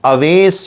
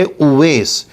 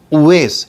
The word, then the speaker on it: اویس: یہ نام ہے اویس۔ آج کل بہت سارے لوگ اس کو غلط بولتے ہیں، اویس بولتے ہیں، آویش خان بولتے ہیں۔ جیسا کہ کوئی کرکٹر ہے، اس کا نام بھی اسی طرح بولا جاتا ہے۔ تو بہرحال یہ صحیح ہے اویس، اویس اس طرح اس کا تلفظ کیا جائے۔ نام کے سلسلے میں